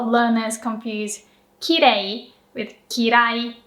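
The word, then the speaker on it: 嫌い: And then kirai is kirai.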